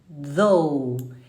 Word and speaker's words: though: Though. Eu não tô mais falando th. Eu estou falando como se fosse um D de Débora e eu vou falar, eu te dou um presente.